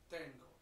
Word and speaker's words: tengo: really important that we focus on the pronunciation here because that is not the dance tango the verb I have tango I have the to